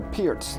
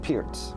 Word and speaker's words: Pirc: gonna reply d 6 which is called the Pierce defense appeared speared it spelled PIRC but it's pronounced Pierce Pierce okay here like Neil pure from a lot of roughly it's perk but it's not perfect the man that was